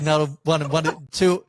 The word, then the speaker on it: Nuttall: Nellie Cuddle, Nuttall. Nellie Cuddle. It's all good. Nuttall, two and one of the same.